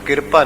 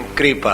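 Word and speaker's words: ਕ੍ਰਿਪਾ: फिर संत कृपा ते, शब्द कृपा है, इसनू किरपा ना पढ़िया जाए क्योंकि रारा अद्धा है। जदों किरपा पढ़ांगे रारा पूरा होगा, जदों किरपा पढ़ना पएगा तो रारा पूरा होएगा। पर इसका उच्चारण कृपा है।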